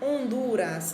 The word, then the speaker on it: Honduras: dos mais conhecidos a honduras tem como capital a cidade de tegucigalpa gente lisa hondurenho hondurenha percebam que esse h ele não é pronunciado você já sabem devem